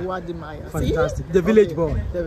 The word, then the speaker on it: Wode Maya: I can't pronounce his name properly, so I don't want to. Wode Maya. Thank you. Mm-hmm. Exactly. Can you say it, please? Wode Maya. Wode Maya. Wode Maya.